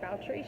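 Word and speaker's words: Báthory: So her name's Balshree. She's named after, it's spelled Bathory.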